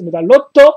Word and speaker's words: Medarot: de la licence medarot ou prononcer la japonaise medalotto parce que j'ai fait